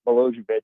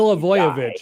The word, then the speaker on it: Milivojevic: They intend for Milojevic, or however you say his name. Milivojevic, I believe, right? Milivojevic, there you go.